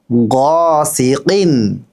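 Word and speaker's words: غ: মাশাল্লাহ এবার বলুন গিন জ আবার গিন আবার গিন গ না কিন্তু গ আমরা বাংলায় যেভাবে গ বলি সেই গ বললে কিন্তু ভুল হয়ে যাবে গ একটু ভিতর থেকে বলবেন গিন গিন জি বলুন মাশাল্লাহ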